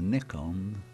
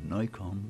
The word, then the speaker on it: Nikon: can tell you now it is a neck on or Nikon whichever you like to pronounce it p 500 this is